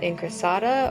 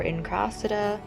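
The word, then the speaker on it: incrassata: one is in lecca here is a hoya in crosata or in krasada depends on how you want to pronounce it i also got this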